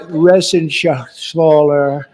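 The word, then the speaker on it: Reschenthaler: And Guy Resenshaw. You know that Resenshaw. That's actually the way you pronounce it, you know.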